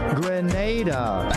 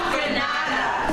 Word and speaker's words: Grenada: Grenada. Say it right. Grenada. That's right. Grenada. There we go. Say it right. It's not Granada.